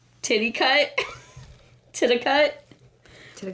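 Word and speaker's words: Titicut: struggle with the pronunciation I looked it up and it was pronounced titty cut to the cut to the cut Follies to the cut flat Follies it was made in 1967.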